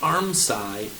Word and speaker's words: armscye: It's called an armscye, S-C-Y-E, where all those pieces of fabric gather and are sewn together.